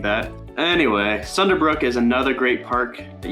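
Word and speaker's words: Sunderbruch: me when I said sunderbrook I said like sonder brunch or something like that anyway sunderbrook is another great Park that you can go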